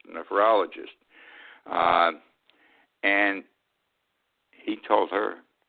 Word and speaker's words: nephrologist: to pronounce this correctly nephologist neph nephologist nephrologist uh and he told